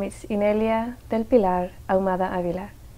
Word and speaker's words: Inelia: family name that is that I'm incapable of pronouncing okay my full name is in earlier del pilar el mother Avila and I'm also